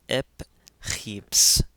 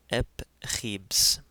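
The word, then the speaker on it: ⲡϧⲏⲃⲥ: In this case now, the vieta is actually pronounced like the letter b because a consonant comes after, which is the sima. So, this is ep kheps, ep kheps.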